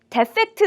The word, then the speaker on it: defect: 자, 우리 오늘 처음으로 함께할 단어는 defect란 단어가 되겠어요. 먼저 같이 발음 좀 연습해 볼게요. defect, defect, defect, defect 이렇게 읽는 분들이 많습니다. 아니에요. 앞에 e로 발음하셔야 됩니다. defect, defect 이고요.